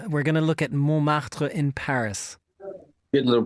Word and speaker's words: Montmartre: We're going to look at Montmartre in Paris. Good little pronunciation there, Chris.